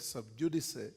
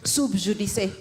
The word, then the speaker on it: sub judice: And the lawyers like Moses Wetangula and others will tell you that you pronounce Latin as it is written, and you write Latin as it is pronounced.